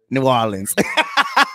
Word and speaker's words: New Orleans: New Orleans. Say it. New Orleans.